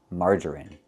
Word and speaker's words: margarine: And the last word we know is margarine. It's pronounced with the short i sound in in this is in margarine.